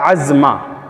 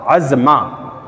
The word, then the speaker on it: عزمہ: تلاش اور جستجو کے بعد یہ ملتا ہے عزمہ، عزمہ ملتا ہے، اور اس کا تلفظ اس طرح سے ہے جیسے میں دکھا رہا ہوں، عین زا میم یا، اس کے اوپر کھڑا زبر، عزمہ، عزمہ نام ملتا ہے۔ تو عزمہ نام آپ